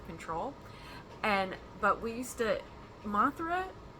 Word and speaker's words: Mothra: But we used to, Mothra, if you say it right, it sounds very much like a southern girl's name.